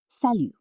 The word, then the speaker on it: salut: For friends, family members, and people you know well, French speakers often use salut. Pronunciation?